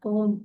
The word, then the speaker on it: comb: Here comb ಅಂತ ನಾವು ಹೇಳೋದಿಲ್ಲ, comb ಅಂತ ಹೇಳ್ತೀವಿ. Okay, so B is silent here.